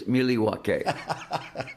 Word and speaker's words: Milwaukee: got it on tape how do you pronounce Milwaukee it's merelywaki and it is Algonquin for the good lab I love the